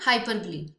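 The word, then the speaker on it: hyperbole: इसकी प्रोनाउंसिएशन है हाइपरब्ली।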